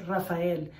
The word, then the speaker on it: Rafael: easy name to pronounce adults tried to anglicize my name my parents made sure that i knew that it was pronounced rafael it wasn't for anything